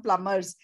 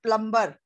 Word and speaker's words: plumber: We should encourage them to learn vocational skills, for example, to become plumbers. See, the pronunciation is not plumber.